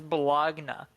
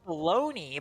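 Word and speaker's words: bologna: I pronounced bologoney as balagna for like years because I knew it was baloney, but I never knew what it was written.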